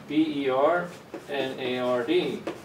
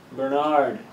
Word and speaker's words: Bernard: My name would be pronounced Bernard, right? Stress in the second syllable. But I'm from Ireland and we stress the first syllable, Bernard.